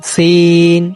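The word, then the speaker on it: س: আরবি 12তম হরফের নাম সিন সিন সিন। সিন হরফটি উচ্চারণ করতে যদিও অনেকের ভুল হয় না, তবে সিন দিয়ে যখন বাক্য গঠন করা হয় তখন অনেকে সিনের পরিবর্তে সা উচ্চারণ করে।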